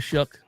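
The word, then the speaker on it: Shough: How do you get the the CK sound out of GH?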